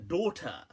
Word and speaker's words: daughter: is a word a daughter now it's interesting how obviously in English they we write the gh obviously don't pronounce it unless you knocked up unless you want to but the interesting